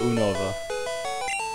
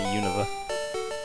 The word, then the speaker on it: Unova: is that so univa oh Unova it's not univa there it is NOA